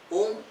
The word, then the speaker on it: ओम: तो आपको सबको मालूम है ओम उच्चारण करने में 3 स्वरों का स्वर अंतर्भूत है, अ, उ और म। ये 3 स्वर जोड़ते हुए ओम तैयार हो जाता है। तो इसमें अ का उच्चारण सबसे कम होना चाहिए, उ का उच्चारण उससे थोड़ा ज़्यादा और म का सबसे ज़्यादा।